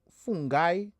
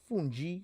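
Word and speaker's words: fungi: fact guilla lady go it's pronounced F fun guy fun guy funi fun guy same thing fun guys thing that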